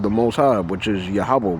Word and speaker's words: Yahawah: By applying a long ah to pronounce consonants of the transliteration Y HW, it would be pronounced Yahaba. That's the rules of PaleoHebrew.